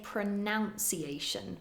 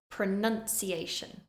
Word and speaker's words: pronunciation: video pronunciation pronunciation and be careful with this one a common mistake is to say pronunciation but that is incorrect it's pronunciation pronunciation now we're going to